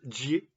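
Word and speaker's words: 解: Je change d'éclairage et je lis un bout, pas tout, de l'idéogramme Xie, qui se prononce Jie apparemment.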